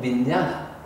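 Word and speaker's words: viññāṇa: 식이라는 마음은 민냐나. 장음이에요, 장음.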